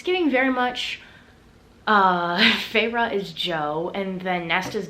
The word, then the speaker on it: Feyre: So she's been taken, so Feyre, finally learned how to say her name.